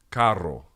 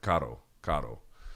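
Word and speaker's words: carro: car in Spanish it's it's two RS it's c a r r o it's Caro Caro right um he can't say it he kind of like flicks his tongue he's more like car car but he can't say Caro that's how you say it or um you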